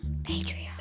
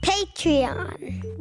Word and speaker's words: Patreon: on hey how do you say this word patreon patreon because the environment matters for us kids go